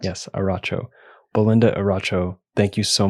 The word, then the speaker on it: Eriacho: And again, confirming your last name is pronounced Eriacho? Yes, Eriacho. The I is silent. Yes, Eriacho.